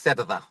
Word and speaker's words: Cerda: So in English but in Spanish, because I'm South American, it's cerda. So it's I'm a not little going to bit be able to harder say for that. the Anglo tongue. You got to roll your R a little bit.